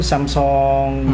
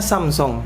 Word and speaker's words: Samsung: lain sebagainya bahkan HP mungkin samsong seperti itu Sampai itu bacanya Samsung Samsung Samsung Samsung Samsung ya Jadi kalo ngomong habis